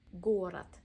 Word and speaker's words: город: Город. Second O is unstressed, pronounced as a A.